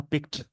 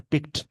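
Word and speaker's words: picked: इस वर्ड का प्रोनाउंसिएशन होगा पिक्ड, वैसा वर्ड जिसके लास्ट में के आए, SH साउंड आए, P आए, इन सब S साउंड आए, इन सब के साथ ED लग जाए तो उसका प्रोनाउंसिएशन हो जाएगा टी में, जैसे पिक्ड।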